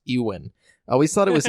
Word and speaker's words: Ewan: Sleep, Kenobi actor Ewan, I just realized his name is pronounced Ewan. I always thought it was Ewan. Really? It's Ewan McGregor.